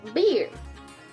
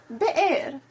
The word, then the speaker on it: Beer: Then they went to beer. What? Uh, yes. But the pronunciation would be more like the air.